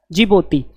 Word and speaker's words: Djibouti: D silent है, DJIBOUTI जिबूती। उसके बाद में यहां से